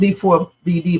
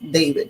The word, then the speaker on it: D4vd: I call him D4 VD, but it's actually pronounced David.